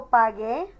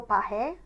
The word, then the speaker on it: pagué: a GU, so yo pagué. If we didn't add that U in there, we would actually have to pronounce that yo pagé. And that just doesn't sound right.